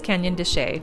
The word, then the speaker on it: Canyon de Chelly: Next is Canyon de Chelly, which is spelled like Canyon de Chelly, and we definitely kept calling it the wrong name while we were there.